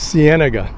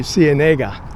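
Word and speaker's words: Ciénega: I think the anglicized pronunciation for Cenega is Sienna, like that uh street in Los Angeles called La Sienega. But according to my Spanish book, it should be Cenega.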